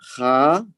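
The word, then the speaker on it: חטאת: The word sin is khatat. So it is pronounced as khatat.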